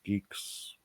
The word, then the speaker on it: Gigx: It's not Gigx, is it? No, that's fine. I mean, people saying Gigx, geeks.